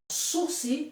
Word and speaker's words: sursis: está brincando é suscitando suci é uma palavra francesa que não tem a pronúncia do s no final do Sul se significa